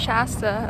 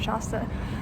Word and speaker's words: Shasta: My dad told me it's pronounced Shasta, and I've been pronouncing it Shasta. So I asked the local, and they said it's Shasta.